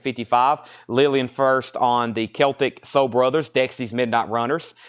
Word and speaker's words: Celtic: So we had that discussion that night about Celtic and Celtic. I think it's the only way it's pronounced Celtic is the Boston basketball team. Everywhere else it's Celtic.